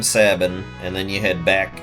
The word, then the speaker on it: Sabin: for his own freedom sabbin I've I've heard people call him Sabin I I say Sabin that's just how I pronounce it ah yes Sabin I'm